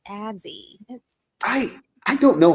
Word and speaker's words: Azzi: whole time I'm like, it's Azzi. You say her name wrong.